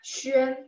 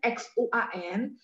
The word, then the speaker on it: Xuan: Tadi kayaknya ada yang tanya Xuan X U A N itu bacanya A-nya agak sedikit E ya. Terus mulutnya bulat.